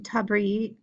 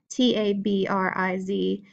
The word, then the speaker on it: Tabriz: Turkmen style, which developed in Tabriz, I've been saying it wrong, Tabriz, and Shiraz, and then a Timurid style, Timurid, associated with the Herat.